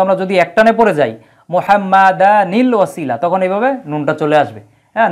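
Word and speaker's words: محمدا الوسيلة: হ্যাঁ, এখন যেহেতু শেষেও তানউইন আছে আর এই জায়গায় আলিফলাম, এই জন্য যখন আমরা একসাথে উচ্চারণ করব তখন একটা নুনে কুত নিয়ে আনতে হয়, নুনে কুত নিয়ে আনতে হয়। এই যে নুনে ছোট করে নুনের একটা উচ্চারণ দেওয়া থাকে, তখন আমরা পড়ি কি? মুহাম্মাদানিল ওয়াসিলাতা।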